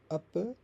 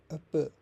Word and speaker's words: apa: The last vowel often becomes a softer schwa.